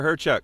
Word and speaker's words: Hyrchuk: And look him up, Tyler Hyrchuk. It's spelled lots of consonants. Hyrchuk.